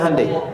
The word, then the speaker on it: Hyundai: Sejak an tekad itu ditanamkan betul kita bisa kita dari tekad sehingga ketika di sana bikin Honda sini Hai Hyundai kan dibacanya Hai ya kan sana Honda